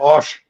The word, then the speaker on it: Paul Boesch: Is it Bo B is the pronunciation? Is it Bosch?